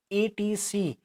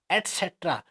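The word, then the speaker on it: etc.: ईटीसी, ठीक है, ईटीसी, हमारे जो बच्चे इसको ईटीसी बोल देते हैं, ठीक है ना, एटसेट्रा। अगर इसका हम उच्चारण बोलेंगे एटसेट्रा, ठीक है ना, तो ये बहुत इंपॉर्टेंट है। बहुत से लोग इसको ईटीसी बोलते हैं, दिस इज द रॉन्ग।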